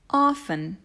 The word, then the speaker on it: often: so here we go often often watch out for that silent t grocery grocery or grocery